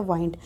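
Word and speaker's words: wind: तो बेटा देखो, नाउन के तौर पर और वर्ब के तौर पर जब सेंटेंस में वर्ड्स यूज होते हैं तो उनकी जो प्रोनाउंसिएशन है वो भी चेंज हो जाती है।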